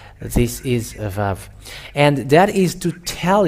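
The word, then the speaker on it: ו: But the letter Vav is V indeed. We can see it. It's bigger on the screen. Vav. It is pronounced as V.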